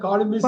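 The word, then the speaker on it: columnist: very good very good திருப்பி என்ன கட் பண்ணுங்க காலமிஸ்ட் காலமிஸ்ட் படிக்கக்கூடாது காலமிஸ்ட் என்ன கட் பண்ணீங்க கோம்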